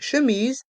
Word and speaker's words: chemise: Une chemise, un chemisier. Une chemise, un chemisier. Ici, les lettres C et H se prononcent che.